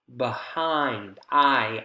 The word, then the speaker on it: behind: Behind, I. We can hear long, we can hear clear, we have a higher pitch. This is the stress syllable in the focus word behind.